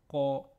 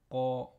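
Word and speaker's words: ق: Pour bien prononcer le Qa, il faut bien veiller à lever le fond de la langue vers le haut. Donc Qa, Qa.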